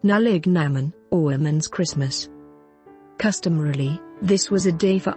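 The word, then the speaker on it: Nollaig na mBan: Ireland January 6 is known as nolignan born pronounced nalig Naman or women's Christmas day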